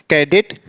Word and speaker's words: cadet: तो यहां ए आया है तो इसका जो सही प्रोनाउंस होगा क्या होगा, कनेल होगा, कनेल। ऐसे यहां CADET, कैडेट।